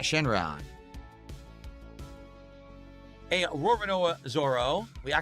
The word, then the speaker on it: Roronoa Zoro: A Roronoa Zoro.